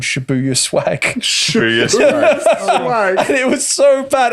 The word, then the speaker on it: Shibuya: but the only reason i know that it's pronounced shibuya is because um my my good friend dan